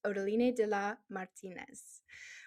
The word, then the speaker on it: Odaline de la Martinez: your host, and today we have a special guest, Odolina Da Martinez. Welcome on the podcast. Thank you. And well pronounced.